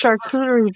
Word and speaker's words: charcuterie: name of French origin and the French is pronounced you could do it's charcuterie bride I just call it a kudakuda board